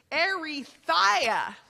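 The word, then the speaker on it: ἐριθεία: It's a Greek word, erythia is how you pronounce it.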